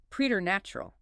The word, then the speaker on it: preternatural: And preternatural, meaning beyond nature, from the Latin praeter naturam. You see P-R-E-T and you instantly think it starts like president or present, but it uses a long E-E sound.